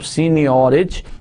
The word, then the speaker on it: seigniorage: So जैसा कि सामने आपको नजर आ रहा है स्लाइड में, प्रोनाउंस कर सकते हैं आप seigniorage.